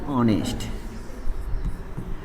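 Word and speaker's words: honest: ऑनेस्ट। तो ऑनेस्ट का उच्चारण होता है ऑनेस्ट, क्या? ऑनेस्ट, क्या?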